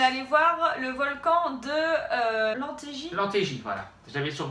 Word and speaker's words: Lemptégy: Donc on est allé voir le volcan de Lantégie. Lantégie, voilà. J'avais sur le bout de la langue. Parce que moi je pensais que c'était Lamptégie mais non en fait c'est Lantégie Oui, que ça ça se se dit.